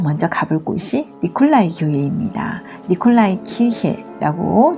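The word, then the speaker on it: Nikolaikirche: 니콜라이 키르헤라고 독일에서 발음하는데요.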